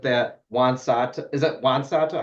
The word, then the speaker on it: Juan Soto: Corbs, even though I don't follow baseball anymore, do you think it's a fair assessment that Juan Soto, is it Juan Soto?